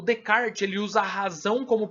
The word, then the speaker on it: Descartes: A gente escreve Descartes, mas a pronúncia é Descartes.